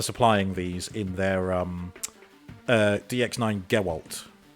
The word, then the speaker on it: Gewalt: Honestly, thank DX9 for supplying these in their DX9 Gewalt. I know it sounds like Geralt, it's spelled with a W, Gewalt. Blitzwing.